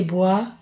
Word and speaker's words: boit: Se lave les visages et boit du café. Boit. Não lê o T. Faz de conta que o T não está aí.